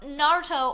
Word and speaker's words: Naruto: So, Naruto, or if you're going to say it with the correct pronunciation, I believe is Naruto. You kind of, like, trill the R a little bit.